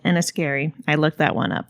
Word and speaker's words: Enniskerry: It's pronounced Scotia. To a small town called Enniskerry.